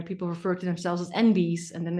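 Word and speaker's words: enby: lot of non-binary people refer to themselves as envies and then it's spelled e-n-b-y yeah um they continue gender non-conforming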